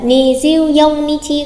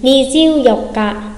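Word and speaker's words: 二十四日: Ngày 24 có phải là ni jiu yong nichi không? Vừa mới học xong phải là gì nhỉ? Ni jiu yok ka, ni jiu yok ka.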